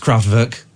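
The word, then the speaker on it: Kraftwerk: two craft vir oh everyone bangs and it's pronounced craft workk you you say craft it's pronounced c c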